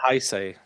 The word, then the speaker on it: Heisei: the uh I I already forgot how to pronounce it. Heisei? Heisei? Uh Heisei.